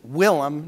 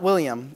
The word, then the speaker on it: Willem: So this is Willem, not William, it's spelled correctly, Willem Hillier.